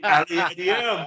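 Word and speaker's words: Aliadière: Well, for the younger viewers, I'll pronounce his name for you. Jeremy Aliadier, mate.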